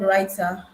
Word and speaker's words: Rytr: Um, and today we'll be talking about, or we'll be learning about an AI tool, AI copywriting tool, which is called Writer. The writer is spelled Rytr.